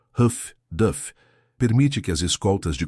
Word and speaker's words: HFDF: Terceiro, o aprimorado radiogoniômetro de alta frequência HFDF pronunciado Huff Duff permite que as escoltas de comboio triangulem as transmissões de rádio dos submarinos.